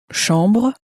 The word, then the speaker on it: chambre: Chambre, You'll notice also that the ch is pronounced sh in French, as you may have already said.